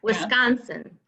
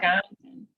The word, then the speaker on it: Wisconsin: And it's the emphasis on the C-O-N. Yep, Wisconsin. Yep. Wisconsin.